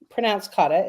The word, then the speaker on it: kata: The experiment kata, pronounced kata, is an essential tool